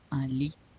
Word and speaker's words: un lit: Do we pronounce the T? No, un lit.